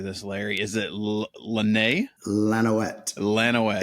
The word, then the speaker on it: Lanouette: Lanouette. Lanouette. It's Lanouette. If you're French, it's Lanouette. Lanouette is an American version.